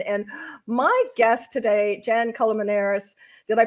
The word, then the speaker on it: Colmenares: staging and design and my guest today jan calamanaris did i pronounce that right culmination absolutely yes jen is